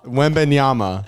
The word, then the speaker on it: Wembanyama: Wembanyama.